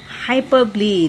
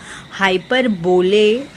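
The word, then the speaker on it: hyperbole: The figure of speech हाइपरबली। This is what I was talking about. हाँ, आप इसको हाइपर बोले pronounce नहीं करोगे। इसका प्रोनाउंसिएशन है, आप गूगल सर्च कर सकते हैं, हाइपरबली।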